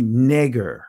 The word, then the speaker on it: Niger: Because notice you see Neger, that's how you pronounce it, but it says it's a surname, Black.